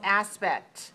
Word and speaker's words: aspect: 1 dot in the middle means there are 2 syllables. Aspect. Where is the stress? First syllable, so 2-1. Aspect.